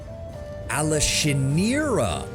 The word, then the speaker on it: Alashinira: Rumors of a remarkable Gallerion taking my Alashinira by storm. Alashinira. Oh, so that's how you pronounce it.